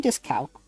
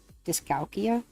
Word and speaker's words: dyscalculia: Because I have dyslexia and potentially dyscalculia? Dyscalculia? I can't remember how to pronounce it. Dyscalculia.